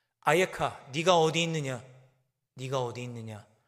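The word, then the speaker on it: אַיֶּכָּה: 있느냐 네가 어디 있느냐 히브리어로는 한 단어입니다 아에카 이렇게 발음합니다 아에카 네가 어디 있느냐 네가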